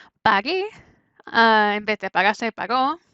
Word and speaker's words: pagué: Pagué, en vez de pagarse, pagó. O sea, la G antes de E se pronuncia G, como gente. Así que para que no sea paje, se inserta U.